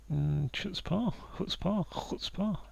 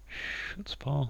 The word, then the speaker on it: chutzpah: Cabin hut. Chut. Chutzpah, I think is how you say that. I don't know. I've already pronounced it very. So, hut spa. It's the sound like we're going for there.